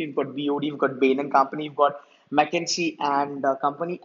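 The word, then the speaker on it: Bain & Company: actually, look, you know, this is people talk about Bain and Co. I don't know, like it should be, you know, Bain and Company.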